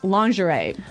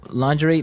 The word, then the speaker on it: lingerie: And the first one is lingerie.